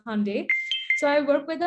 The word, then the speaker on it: Hyundai: the uh hyundai group what you call as a hyundai the right pronunciation is hyundai so i work with